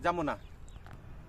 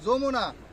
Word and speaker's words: যমুনা: এই লেখাও নিয়ে আচ্ছা, কি লেখা নিয়ে স্যার বানান করছ তো? জি স্যার, জি স্যার। JAMUNA জামুনা। JAMU জামু, NA জামুনা। আরে এটা যমুনা না যমুনা? JAMUNA, এটা হলো যমুনা।